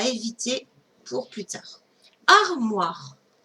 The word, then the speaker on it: armoire: Armoire. J'écris d'abord la syllabe ar. R. Le M. Oua. O-I. Re. R. E. A-R-M-O-I-R-E.